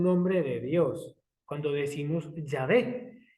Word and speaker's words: Yahvé: Una correcta y posible pronunciación sería Yahvé.